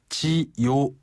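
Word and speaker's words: 九: 지요 우가 연결된 발음인가요? 그렇죠. 지요 우가 연결된 발음인데요. 지요. 밑으로 내려갔다가 위로 살짝 올라오면 됩니다.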